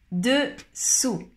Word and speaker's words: dessous: Alors, dans le deuxième, attention, on prononce OU, comme en castellano. Dessous, dessous.